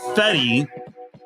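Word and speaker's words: Fedde: Found out I was pronouncing that name wrong. Eric Fetty taking on Quinn Priester.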